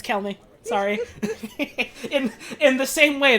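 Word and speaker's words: Chelmey: It's not Chelmy. I refuse to believe that. It's Kelmy.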